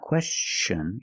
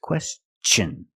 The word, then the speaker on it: question: pronunciation of TI n when TI is after an S then it's pronounced differently it's pronounced with the CH sound the hard CH sound like chick and change with words like this question it's not question it's question use the hard CH